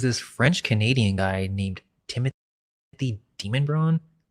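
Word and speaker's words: Demonbreun: And by the 1760s, there's this French-Canadian guy named Timothy Demonbron. The locals pronounce it Demonbrian. It's spelled demon though.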